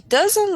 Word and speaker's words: doesn't: in presents he doesn't we don't need to pronounce the T at the end okay he doesn't like to fly all